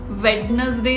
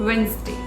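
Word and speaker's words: Wednesday: इसको वेडनेसडे नहीं बोलते हैं, this is called वेंसडे. वेंसडे.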